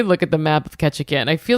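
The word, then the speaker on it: Ketchikan: Let me look at the map of Ketchacan. I feel like Ketchan. Yeah. Are you looking at Ketchacan? It's called It's It's spelled like ketchup but but not ketchup, right?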